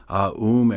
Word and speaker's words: AUM: A is called the fourelement syllable. Aoom.